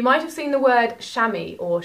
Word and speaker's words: chamois: You might have seen the word chamois or chamois as it's written, but it's actually pronounced chamois.